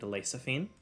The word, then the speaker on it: Lexaphine: lady the one they serve uh is named lasaphine it's spelled l-e-x-a-p-h-i-n-e as well as the location of